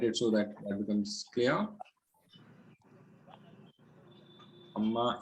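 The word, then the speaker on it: عمّ: Amma is un plus ma. Then there's a shadda here, and then the noon, and this is an idgham between them, and that's why it is pronounced as amma, and then that's why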